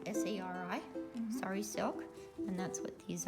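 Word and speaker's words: sari: call it a screen i guess sorry it's spelled s-a-r-i sorry silk and that's what these are they give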